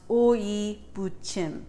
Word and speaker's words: 오이무침: Before we begin, I want to teach you how to phonetically pronounce 오이무침.